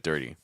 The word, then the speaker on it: dirty: focus on vow sounds same idea with dirty so just do an R sound and an e sound and then try to add in the rest of the sounds and try to keep it smooth like I dirty I dirty I dirty the